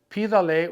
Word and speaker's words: pídale: Ask him a favor. Pídale un favor. Ask them a favor. Pídales un favor. Accent on the I.